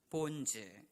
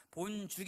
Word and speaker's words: 본즉: 절에 하늘에 닿았고 또 본즉 그 다음에 13절 처음 시작하는 부분엔 또 본질 여러분 그렇습니다 본즉 이라고 하는 것입니다 발음을 유의하셔야 됩니다 본죽 이 아닙니다 본죽 이 아니라 보인 즉 내 본즉